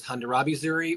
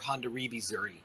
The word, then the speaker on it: Hondarrabi Zuri: And you'll see it pronounced and written in two different ways. You'll see it as Hondarrabi Zuri or Hondarrabi Zuri.